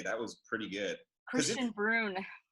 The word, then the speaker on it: Bruun: I'm super excited to welcome Kristian Bruun. Did I say it right? Yeah, that was actually really good. It's not a bit Bruin, and it's just Bruun, but like that's better than most people.